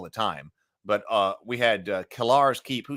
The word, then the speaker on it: Kellar's Keep: time, but we had Kellar's Keep, who somebody said that the app pronounces Cellar's Keep. But I said Kellar's Keep.